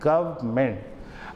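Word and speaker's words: government: मैंने गवर्नमेंट या गवर्नामेंट नहीं बोला। मैंने आर को साइलेंट करते हुए बोला है गमेंट।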